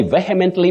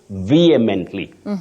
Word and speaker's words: vehemently: go about that oh many people say vehemently because when they see the spelling they see the letter sequence that has vehement but that is not not the correct pronunciation when you strongly deny to divulge information like maybe police officers you don't say police vehemently refused to talk to the journalists no you say vehemently vehemently they vly refused to